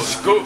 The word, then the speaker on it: skål: Skål. Skål.